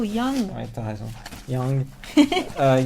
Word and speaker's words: Young: prononces toujours Young, mais c'est plutôt Young.